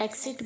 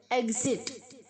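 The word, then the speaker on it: exit: बहुत सारे बच्चे से एग्जिट एक्सिट बोलते हैं, नहीं, गलत है। एग्जिट, ई के आगे जी प्रोनाउंस होगा।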